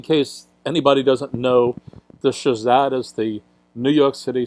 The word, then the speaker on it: SHSAT: I call it SHSAT. Some people spell it out.